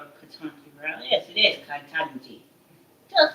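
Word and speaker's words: Ketanji: Yes, it is Katanji.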